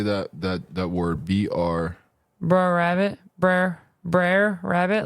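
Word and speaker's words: Br'er: that that that word br br rabbit br br rabbit like brother but without the OT BR rabbit foxs br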